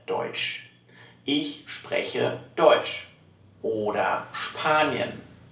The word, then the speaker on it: Spanien: S und P at the beginning of a word. Then this combination is pronounced SCH.